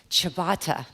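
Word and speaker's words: ciabatta: uh Julian Miguel to help with the pronunciation of chabata.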